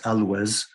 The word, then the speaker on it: Alois: And this reflects and supports this idea that the original mission, Alois's mission, Alois, by the way, pronounced Alois, was on that stream somewhere.